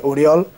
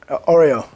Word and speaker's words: Oriol: they asked for my name, and I said "Oriol". But they pronounced it as "Oreo". "Like the cookies?"